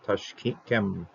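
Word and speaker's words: תַּשְׁקֵם: We're not going to pronounce this shua here. Tashkem, tashkem.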